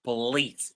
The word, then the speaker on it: police: So the the the second syllable lease is the one that is stressed in the word police.